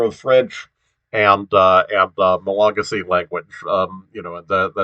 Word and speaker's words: Malagasy: yeah i i'm i'm i'm not getting the the stress on the name of the language right it's malagasy is uh so it's uh stress is next to the last syllable which um i guess